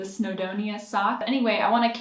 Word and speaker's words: Snowdonia: be caking up this snodonia sock by garthanor i was saying it wrong in the last video that was really triggering me when i was watching it back but the snowdonia sock anyway i want